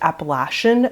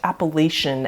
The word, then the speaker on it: Appalachian: a side note yes it is actually pronounced appalachian not appellation as many people pronounce it so i just want